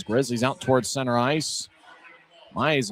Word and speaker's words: Mayer: Maillet's last name looks like Mayer, M-A-Y-E-R, but the pronunciation guide says Maillet.